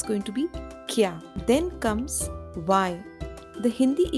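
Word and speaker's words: क्या: here you will see the curve is half and it is joined to here that means that curve will not be pronounced completely so it is not going to be Kaya it's going to be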